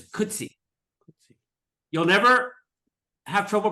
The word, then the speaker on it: Coetzee: gonna you'll see why it's rhymed with could see except that it's a z instead of a c it's like he could C but it's could C you'll never have trouble